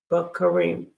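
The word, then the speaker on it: בקרים: and we have B bakarim bakarim bakarim and and remember the stresses on this last syllable well we got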